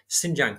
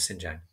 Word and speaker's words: Xinjiang: But in the northwest, Xinjiang province, which is spelled X-I-N-J-I-A-N-G, Xinjiang province was outside of their control.